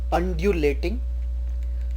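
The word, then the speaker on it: undulating: अ है, जैसे कि अम्ब्रेला, अल्टीमेटम, अंडर कवर, अंड्यूलेटिंग। तो ये सब यू का प्रोनाउंसिएशन अ है।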